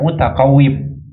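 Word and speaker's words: مُتَقَوِّم: Kalau begitu tidak sah syarikah dalam barang mutaqawwim. Mutaqawwim baca dengan kasrah ya, bukan dengan fathah. Al-mutaqawwimat dalam al-iqna' atau dalam Mughnil Muhtaj disebutkan al-mutaqawwim bi kasril waw.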